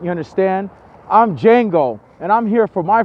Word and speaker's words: Django: I'm not your slave I'm Django the deed the D is silent you understand I'm Django and I'm here for